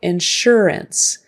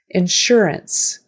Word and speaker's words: insurance: or February insurance insurance that s is going to sound like an sh so insurance and that last syllable ends ants or ants but usually ends insurance insurance now proceeds as